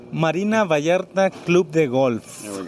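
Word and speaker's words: Marina Vallarta: We are back once again live from Porerto Varta, Mexico, and I'm at the Marina Viarta Golf Course. I don't say it properly, Ivon, you say it. Marina Vayarta Club de Golf.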